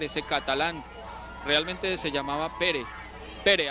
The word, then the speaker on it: Pere: catalán, realmente se llamaba Pere, así se dice Pedro en catalán, Pere o Pera, se escribe, pero Pere, Pedro espera.